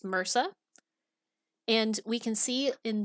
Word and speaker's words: MRSA: One common MDR microbe is methicillin-resistant Staphylococcus aureus, also known as MRSA, pronounced MRSA.